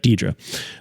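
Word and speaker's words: Deirdre: is Jam Lee Curtis's characters name is pronounced di drra drra Dedra y Dedra okay when Michelle Yo's character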